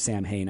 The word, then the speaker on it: Samhain: I went to school with a guy named Sam Hain, I think. But it's pronounced Samhain.